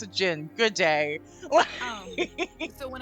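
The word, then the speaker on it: jinn: humans and also so spelling it j-i-n-n is the Arabic spelling um it's romanized as d-j-i-n-n or anglicized as genies and that's like that's why when people like oh a genie it's a gin it's that's just how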